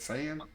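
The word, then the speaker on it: Sayin: Syan.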